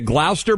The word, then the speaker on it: Gloucester: Gina in Gloucester, is it Gloucester, Mass? Yep. How do you pronounce the town?